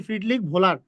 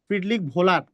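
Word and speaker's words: Friedrich Wöhler: দেখো আমি লিখতেছি ওহলার কিন্তু এনার এনার সঠিক উচ্চারণ হচ্ছে ফ্রিডলিক ভোলার যার মানে ডব্লিউ এইচ ডব্লিউ ও এইচ এ ভো হয় ফ্রিডলিক ভোলার যদিও কোন কোন বইয়ে পুহলার লেখা আছে কিন্তু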